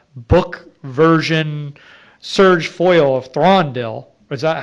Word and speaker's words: Thranduil: to buy a book version Surge foil of Thranduil. Is that how you say it? Yeah, it sounds like Thranduil.